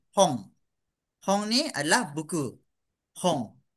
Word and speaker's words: 本: はい。じゃあ次。next。これは Hon. 本。 on, Okay. Inilah yang kata tadi dia bunyi macam NG lah. Hong.